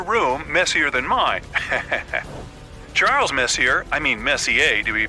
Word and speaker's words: Messier: m43 well young lady the m stands for Messier pronounce Messier not Messier as in is your room messier than mine Charles Messier I mean Messier to be precise was a